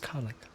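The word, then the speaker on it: Karlach: It's pronounced Karlak.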